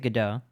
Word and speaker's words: Godot: demo God dot yeah I I pronounce it gdo like waiting for gdo or galados sort of